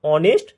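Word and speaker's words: honest: এান hour এান অনেস্ট ম্যান এইচ এর উচ্চারণটা উজ্জ থাকছে তাই আসছে অনেস্ট ম্যান দেখো প্রথম বাক্যটাতে প্রথম উদাহরণটাতে আওয়ার আছে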